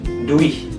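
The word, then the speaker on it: durch: kalau pembagian apa duis duih Jadi durce tapi dibacanya duih jadi r-nya enggak jelas jadi Jadi ibarat kalian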